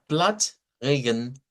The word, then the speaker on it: Platzregen: Entonces tenemos acá que esto va a sonar a Platzregen. Platzregen. Nótese. Allí tendríamos el sonido, ¿verdad? Ya desde la plataforma. Entonces, miren, ya podríamos tener más claro cuál es el sonido a utilizar en el caso de esta palabra, ¿verdad? Platz, Regen, Regen, sabiendo que es una R uvular la que debemos utilizar acá. Bueno, vamos a otra, ¿verdad?